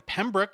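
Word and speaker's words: Pembroke: He was born in Pemrook. Is that Is that how you say it? Pemrook or Penrook? Penrook. Yeah, that's perfect.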